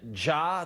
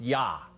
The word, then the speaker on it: ja: said Angela Merkel said ja to the Bundesliga returning it's pronounced yah not JA so uh I clearly